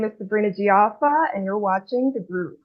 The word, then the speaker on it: Sabrina Jieafa: don't screw it up by saying your last name wrong. Thank you for asking. Um, hi, my name is Sabrina Gia.